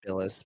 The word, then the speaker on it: Bilas: It's pronounced Billis, but whatever.